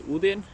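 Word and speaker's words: Odin: My name is Udin. That's how you say it in Norwegian, where I'm from.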